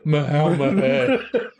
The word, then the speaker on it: Melniboné: Elric of Melniboné. Which is how I will pronounce it from now on.